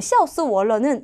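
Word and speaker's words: 笑死我了: 여러분 샤오스 월러는 야 진짜 웃겨 죽겠다는 소리거든. 근데 샤오 할 때 X, 스 할 때 S, 워 할 때 W, 러 할 때 L을 매 글자의 발음의 첫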